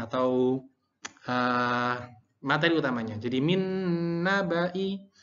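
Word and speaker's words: مِن نَّبَإِ: Jadi min nabai. Hati-hati banya dibaca pendek. Walaupun di sini panjang tapi dibacanya pendek.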